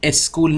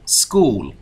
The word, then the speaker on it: school: In a school. بسیار عالی، به تلفظش دقت کنید. اسکول نیستا، سکول.